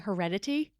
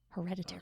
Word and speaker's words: Hereditary: I think on the Podcast of Terror episode, I kept saying Heredity or something. I could not fucking say it. Hereditary.